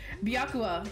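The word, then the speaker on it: Byakuya: know that's how you actually said his name biakua is right okay fine i'm sorry let me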